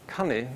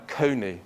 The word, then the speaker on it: coney: order to stop saying cunny, when they're reading the Bible in church, they would pronounce it as we do now, coney, because that sounds much more acceptable rather than cunny.